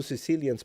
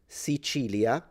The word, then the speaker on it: Sicilia: You can say Sichilia where the C is pronounced with a ch sound. Sichilia. This is kind of the standard Italian way of pronouncing it. Some Sicilians use it.